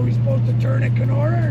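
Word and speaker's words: Kenora: we headed to can k o r a canora yes it's about 2 and 1/2 hours and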